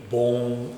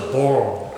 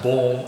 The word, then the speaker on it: bone: Living Bone Ultimate Not Born Bone Bone Ultimate Please say the correct pronunciation of Bone Ultimate. Instead of the born ultimatum, he has the bone ultimatum.